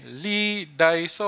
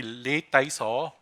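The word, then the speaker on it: Lee Dai Soh: Okay, Lee Dai So, or my friend was teaching me, is supposed to be Lei Tai So, the Cantonese pronunciation, or there's another pronunciation.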